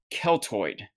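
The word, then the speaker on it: Κελτοί: But it came from a Greek word called Keltoid, spelled with a K. Keltoid.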